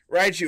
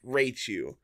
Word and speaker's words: Raichu: years at this point raichu is right you yeah uh but like i i definitely could see how someone especially back then who isn't uh well versed in the pokemon universe could read this as rachu like and like this